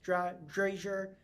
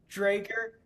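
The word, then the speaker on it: Dräger: across several different companies and industries, including Novartis, Dra Draasier, Staples, Drager, Drager. I literally looked up before we did this how to say it and I still got it wrong. Drager, Staples, Gap, and now H&M.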